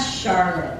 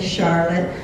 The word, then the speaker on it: Charlotte: should be silly saline and then we have Charlotte everyone else in the world is going to say Charlotte but here in Michigan no it's pronounced Charlotte